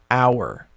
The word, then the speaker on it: hour: like in the word hour now hour actually starts with an h but it's silent an hour you don't pronounce the